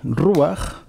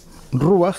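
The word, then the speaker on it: רוח: que hay una palabra, que es la palabra ruach. Voy a limpiar un poco esto. Ruach, que seguramente os suena a la mayoría, que significa literalmente viento.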